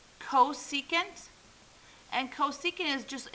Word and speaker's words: cosecant: This is pronounced cosecant, and cosecant is just, it's 1 over sine, or think of it as this way.